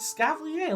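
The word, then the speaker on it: Escavalier: It's a Scavalier.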